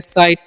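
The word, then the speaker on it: sight: है अब एस आईटी एस आईजीटी है तो इस बोलेंगे साइट यहां पर जीए जो है साइलेंट होता है इसीलिए हम यहां पर साइट पढ़ते है ठीक है साइट मतलब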